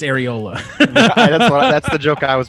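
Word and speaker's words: Arriola: Paul Aurelio. Yes, yeah, he was FC Dallas player, going crazy. Paul Areola, yeah, he was going. That's absolutely. not how you say it. It's Areola.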